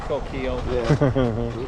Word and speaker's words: Coquille: that oh who knows but everybody calls it Coquille okay it's the same way how do you really pronounce Sacagawea you know so here's a better